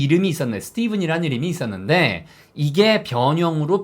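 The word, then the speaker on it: Stephen: 실상 이 너무 쉽죠 ph 가 영어에서 유일하게 유일하게 불이 발음 나는것은 이거밖에 없어요 부위 바른 나는거 이게 예외 딱 하나에요 그래서 이 발음은 보다 예 ph 가 여기서는 f 발음이 낮 대부분 나는데 이 발음만 유일하게 미 렇게 부위 발음 난다 라고 안계신 알고 계셔야 되는 유일한 일반 단어도 아니고 사람 이름이에요 자 그래서 st 입은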